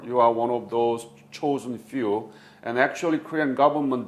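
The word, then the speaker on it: Chosin: few in parenthesis because chosen few is japanese pronunciation of zhang jin in chinese character and korean government cannot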